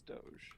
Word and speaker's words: Doge: is it though is it Doge I've heard it pronounced both ways but it's Doge um although so so